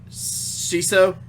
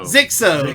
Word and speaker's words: Xixo: Just as an example, your top 8 in this tournament were Powder, and I always butcher his name, Shiso, I can never say it. XIXO. Zixo. Zixo. That's it. Zixo.